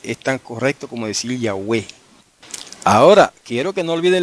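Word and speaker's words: Ιαουε: Y eso se lee, no hay otra manera de leerlo en griego, eso se lee Yahweh. Todas son vocales, Yahweh.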